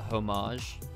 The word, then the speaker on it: homage: i would appreciate uh homage do you pronounce the h homage no okay okay i was